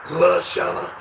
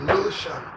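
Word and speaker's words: Lushana: name comes up and how they say your name, La Shana or Lu Shana. There is a Lu, and you made sure that they pronounce it right. And now, don't nobody say La Shana. Nobody says that. Everybody says Lu Shana.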